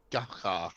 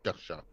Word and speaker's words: Gacha: It's a Jose Gonzalo Rodriguez Gacha, or Gacha, I think it's pronounced Gacha. Drug Baron, what he said, was killed by Colombian police on this day.